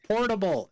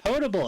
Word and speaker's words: potable: It's pronounced portable. No, it's pronounced potable. And then the whole table starts arguing about it.